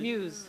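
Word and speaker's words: Mews: How do you say that? M-E-W-S? Booner? No, Muse? Muse, yeah.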